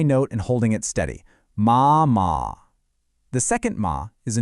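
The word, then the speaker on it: 妈: The first character, ma, is the first tone. That's high and flat. Imagine you're singing a high note and holding it steady. Ma.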